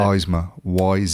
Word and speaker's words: Yzma: How do you pronounce it? Yzma. Yzma.